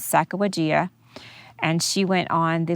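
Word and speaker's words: Sacagawea: i'm and i'm not i'm just going to pronounce it the way i pronounce it and the way i've heard many pronounce it but there are various pronunciations out there but the lady's name is sacawajia and she went on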